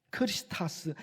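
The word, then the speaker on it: Χριστός: 그리스도이십니다 그리스도라는 단어가 헬라어인 헬라어로 정확하게 발음하면 크리스타 합니다 크리스스 헬라어에 그 크리스타는 헬라어를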